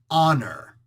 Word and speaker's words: honor: you'd also say like it would be an honor well there's an H that comes after it yes but not the sound you don't sound out the H which is why we go by the sound not by the actual Written Letter all of these things